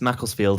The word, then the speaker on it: Macclesfield: you hear me yeah how how is it pronounced what's the name of the place you're in yeah it's it's macclesfield in england here oh okay and what's your